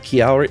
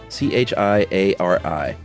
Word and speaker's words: Chiari: I have kiari. I think it's c h i a r i. And I bet you it's not chiari. You got to say it like an Italian person.